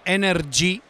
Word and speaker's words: Energ: della macchina si chiama energ con la g finale pronunciata con l'accento Diciamo quindi non c'è